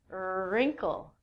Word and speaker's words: wrinkle: Next one is wrinkle.